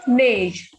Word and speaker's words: neige: Next is la neige. Next is E and I is A. So NEI is ne. Neige.